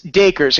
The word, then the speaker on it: Dacres: right it's Acres D you know like Acres like the land okay perfect we are going to talking today ladies and gentlemen dakers and has been